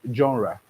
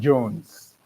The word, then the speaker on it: genre: For instance, this is pronounced as genre. All right? Some try as much as possible to you know um try as much as to pronounce it in English saying Jones. Do you understand? But then it is genre.